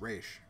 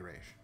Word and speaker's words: Ra's: My ex was the same way about Ra's al Ghul and the proper pronunciation, which is Ra's al Ghul. Yeah, it's Raish. It's definitely Raish.